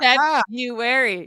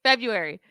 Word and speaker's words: February: I've never heard someone pronounce that first R like That's how it's spelled.